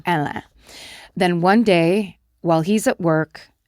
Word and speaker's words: Hélène: He tells his inner circle that while he's in the U.S., he meets and falls in love with a woman named Hélène, the French pronunciation of Helen, Hélène.